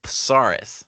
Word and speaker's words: Psarris: Uh we have with us Spike Pasaris and I just learned how to properly pronounce that name.